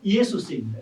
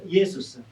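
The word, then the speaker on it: Ἰησοῦς: 이에수스입니다. 이예수스. 예수님을 헬라어로 발음하면은 예수스입니다.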